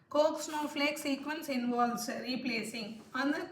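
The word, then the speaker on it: Koch: காட்ச் snowflake இல்லை Coke snowflake, அது ஆத்தரோட அந்த கோக் அப்படிங்கிற ஆத்தரோட பேர்.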